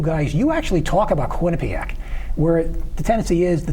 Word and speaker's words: Quinnipiac: And the night that Quinnipiac beat Miami, Rebecca Lobo's on ESPN teaching the proper pronunciation of Quinnipiac. Yes. Too many people say Quinnipiac, and that's incorrect.